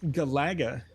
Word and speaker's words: Galaga: house to try to figure out how to pronounce Galaga and they say Galaga is the preferred reason because it's a direct